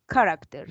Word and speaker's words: character: Character. In this case, the letter H doesn't have sound. The correct pronunciation is character.